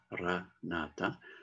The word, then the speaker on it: Maranatha: Alors, si on utilise le mot Maranatha, on le dit, il y a 4 syllabes, hein, Maranatha. Donc, on le dit de façon normale, avec douceur, Maranatha.